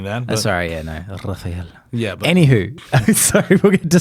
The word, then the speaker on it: Rafael: It's like just Rafael, or can I get like spicy? Like Rafael.